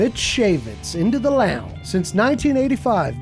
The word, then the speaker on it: Shaivitz: It's not Shaivitz. Shaivitz. Yeah. Shaivitz. The I is silent. Interesting.